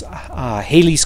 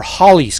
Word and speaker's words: Halley's: it's the ad 1066 Halley's Comet or Holly's Comet depending on pronunciation the Chinese recorded this